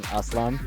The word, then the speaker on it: A-Slam: or with peace so aslam means like with peace and then a slam is like a western pronunciation of it but also like in